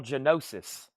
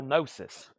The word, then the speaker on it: Gnosis: This one is Horse Latitudes Primal Genosis, or Primal Gnosis, if that G is silent.